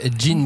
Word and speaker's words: Gene: Ça s'appelle donc Jean Bride. Jean, ça s'écrit Gene.